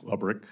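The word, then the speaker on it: Lebryk: And I believe you were approached by the highest ranking career official at Treasury, David Lebrick. Am I pronouncing his name correctly? I believe it's Lebrick.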